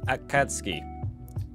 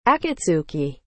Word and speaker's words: Akatsuki: Akatsuki. I can never pronounce it correctly. Akatsuki. That is straight up an S.